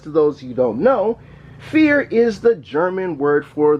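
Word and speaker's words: Vier: friends and family for telling me the proper name of saying this card we have two copies of cyber dragon fear that's right fear even though it's spelled with a V up just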